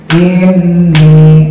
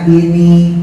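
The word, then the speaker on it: إِنِّي: Jadi dibacanya ini, ini, ini. Jadi bukan inni.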